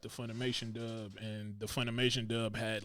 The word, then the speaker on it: Funimation: so goku had three pronounced funimation i always called it funmation it's funimation i'll be deleting letters yeah it's funimation man so yeah they went